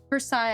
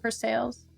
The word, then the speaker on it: Versailles: Versailles, I think, not Versailles.